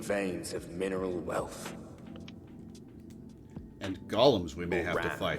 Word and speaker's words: Golem: That's because the Pokemon is pronouncing it correctly. It is Golem. The iguanas were from 2. Gotcha. Yeah, the Pokemon's literally just named Golem.